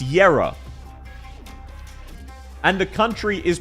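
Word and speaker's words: Kjera: Did you know that her name is pronounced Yera? And the country is pronounced Yerag.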